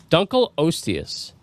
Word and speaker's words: Dunkleosteus: So, Dunl Oius, that's how it's pronounced.